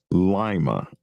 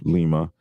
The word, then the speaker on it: Lima: They uh will the way you pronounce it is correct for the capital Peru, but Ohio, they pronounce it Lima instead of Lima.